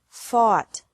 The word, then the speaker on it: fought: Fight, fought, fought. Seek, sought, sought. Teach, taught, taught. Think, thought, thought. Remember that the G is silent in these verbs.